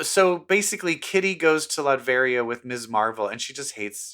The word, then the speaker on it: Latveria: And so it looks like there's some mutants in Latveria. How do you say that? Latveria? Latveria.